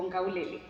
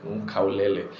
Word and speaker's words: Nkaulele: And then the guy was like, Nkaulele. But the way he pronounced it was now what, you know, captured my attention. I think he said, instead of K, I think Maasai's use G instead of K.